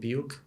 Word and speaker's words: Biuk: I think our new players who saw the field tonight, Aaron, Timmy, and Stipe, correct pronunciation of his last name, Biuk.